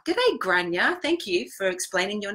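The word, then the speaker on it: Gráinne: said it right haha it's Irish name and it said granya debate granya thank you for explaining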